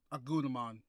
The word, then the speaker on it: Agumon: Agumon. Please tell me I pronounced that right. Yep. Agumon.